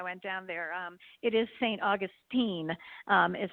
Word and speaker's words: St. Augustine: me when I went down there it is st. Augustine is how it st. Augustine is how it's pronounced oh yeah so they make they corrected